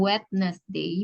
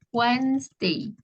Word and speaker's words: Wednesday: Wednesday and fridays ya jadi bacanya bukan wednessesday Bacanya adalah Wednesday Wednesday ya itu ada di